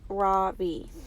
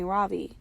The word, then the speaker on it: Ravi: is Ravi it's pronounced Ravi with a soft rock and a strong V in Sanskrit it means the Sun in America people call me Ravi with the stress on the first syllable that doesn't mean anything